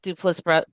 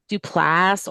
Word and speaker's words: Duplass: that sounds great I they actually pronounce it dupas dupas um like if when you hear them talk I always call them duplass or there's two of them so sometimes I say the duply um but that's actually how they pronounce their name yeah but I meant